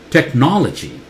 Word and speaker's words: technology: do you say this the north is louder stressed technology technology Lachie anytime you